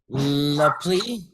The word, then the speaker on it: la plie: La plie. La plie. Is that how you say it, Michele? La plie? Yeah, la plie. That's a borrowed word. It comes from French.